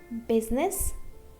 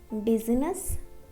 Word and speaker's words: business: We always pronounce letter I, but there are two exceptions. Business, business, not business, business.